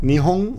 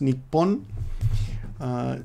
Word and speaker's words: 日本: And then we have the iconic nihon, or could be pronounced nippon, Japan.